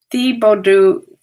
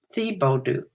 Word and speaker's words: Thibodaux: and it went to Thibodaux, Louisiana. I guess that's how you pronounce that. It's a strange spelling. The last four letters of that town ends in D-A-U-X. That's like French. Thibodaux, whatever.